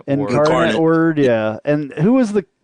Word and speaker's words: Incarnate Word: say it right in I don't know how you say it increment word Incarnate Word yeah and who was